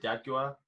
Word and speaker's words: D'Aguilar: That's how you pronounce it, D'Aguilar.